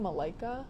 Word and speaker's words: Malaika: your ad name now Malika so how do you say your name Malaika cool name I have